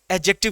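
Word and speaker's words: adjective: है एडजेक्टिव ठीक है इसे एडजेक्टिव मत बोलना इसमें डी बेटा साइलेंट रहता है क्या रहता है डी साइलेंट एडजेक्टिव कहा जाता है क्या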